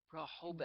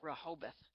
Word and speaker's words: Rehoboth: You're going to have to help me pronounce the name of your church. MCC Rehoboth, Rehoboth. Delaware. Rehoboth.